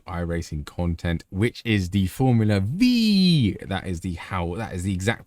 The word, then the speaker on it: Formula Vee: Welcome everyone to the new iRacing content, which is the Formula V. That is the exact pronunciation you need to do it whenever you say this car's name.